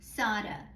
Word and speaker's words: Sarah: The main character is Sarah, pronounced Sada.